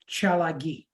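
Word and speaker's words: Tsalagi: chagi my ancestral tribe what the Cherokee Indians calls eles pronounce chagi from this mic to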